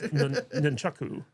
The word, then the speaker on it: nunchaku: There's no M in nunchucks.